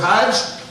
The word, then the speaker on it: Hajj: times seven times and in Egyptian Arabic it's pronounced a little differently instead of Hajj the J becomes a gene and Egyptian Arabic gets